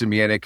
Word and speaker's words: Zemianek: Again, thanks for having me, and great job on the pronunciation. You nailed that. Yeah, so I will start with, I'm Zemianek.